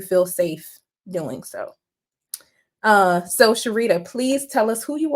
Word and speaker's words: Cherita: So I'm Cherita. If anyone sees my name and you're questioning how to pronounce it, literally Cher Margarita put together.